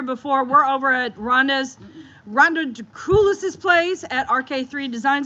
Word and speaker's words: Draculis: And just because you guys didn't hear before, we're over at Rhonda Draculis's place at RK3 Designs. I have to always push that out to make sure I say it right. Draculis. Not Dracula.